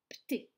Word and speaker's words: Pté: donné que ça, et c'est très difficile à prononcer, c'est Pté.